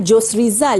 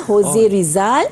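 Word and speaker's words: José Rizal: Okey, sebutan dia bukan Jos Rizal ya, Jose Rizal sebab Spanish punya pronunciation, Jose. maka Jose.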